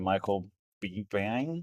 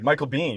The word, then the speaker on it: Michael Biehn: Michael Bang. Oh, is it really? Yes. Okay, Michael Biehn.